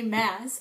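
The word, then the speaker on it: Maas: Roses by Sarah J Mass I also learned that her last name is pronounced mass and not M so anyway um yeah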